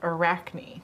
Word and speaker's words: Arachne: walls Ray says it's pronounced Arachne from the Greek spider myth sure Arachne sure thank you and